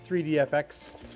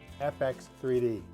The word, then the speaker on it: FX3D: So I got my package actually quite a while ago from 3DFX, and I said it wrong again, FX3D.